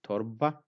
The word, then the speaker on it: torba: So torba, arba, for two. So in all of these three, the ra sound is silent or kind of semi-silent.